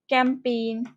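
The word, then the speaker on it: campaign: কিছু শব্দ আছে যেখানে জি এর কোনো রকম উচ্চারণ থাকে না, যেমন হচ্ছে চ্যাম্পেইন, ক্যাম্পেইন।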